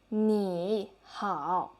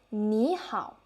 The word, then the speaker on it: 你好: before, you can see the first word will be the third tone, and then the next one will be third tone as well. So based on our previous learning, you will feel that the pronunciation should be 你好. Is it right? And then this time, you will listen to me and I will say 你好. Now, can you feel any difference for our tone change?